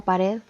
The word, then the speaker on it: pared: Tenemos una pequeña nota que dice: términos como pared o reloj, por más que no lleven el acento ortográfico como los otros ejemplos, poseen también sílabas tónicas, ya que tanto en la sílaba red de pared y log de reloj existe un énfasis de la voz en la pronunciación, lo que veníamos ya